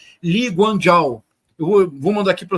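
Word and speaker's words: Lee: estado moderno de Singapura que se escreve eu vou mandar para vocês como se escreve mas se pronuncia li eu vou mandar aqui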